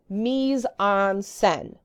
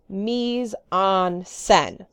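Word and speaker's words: mise en scène: as pronunciation goes so say it out loud with me a couple times knees arms sin knees on sin mieze on sun it's kind of similar to the idea of meson place now if you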